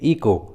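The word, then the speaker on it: echo: का उच्चारण नहीं करते, जैसे इको, कोरस, क्रिसमस। देखिए तीनों इंग्लिश वर्ड्स में एच सी के बाद आया है, इसलिए रूल के अनुसार एच का उच्चारण नहीं हुआ है, एच साइलेंट है।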